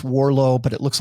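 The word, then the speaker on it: Warrillow: And uh it it's pronounced Warllo, but it looks like Warillo.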